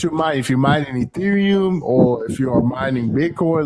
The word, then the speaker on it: Ethereum: It's Ethereum.